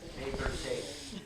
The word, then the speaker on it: Nez Perce: pierce. Yeah, Nez Perce. yeah. That's a pronunciation.